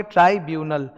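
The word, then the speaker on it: tribunal: ट्राइब्यूनल, that's the pronunciation.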